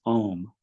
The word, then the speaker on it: Om: It contains the three letters A, U, M. To quote Swami Vivekananda, the first letter is A, the root sound, pronounced without touching any part of the tongue or palate. M represents the last sound of the series, being produced by closed lips, and the U,